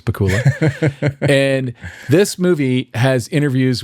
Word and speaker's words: Pakula: I want I always want to say Pacula because it rhymes with Dracula, but it's Pula.